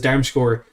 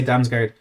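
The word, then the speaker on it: Damsgaard: get done like that roone says darmscore is a more correct pronunciation for him i i yeah i'll join i'll call him danzinio because i always say damn's guard i always say damn score and i feel like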